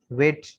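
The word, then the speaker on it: weight: वेट, जी H silent है, डब्ल्यू ई आई टी वेट, वेट का माना वजन करना।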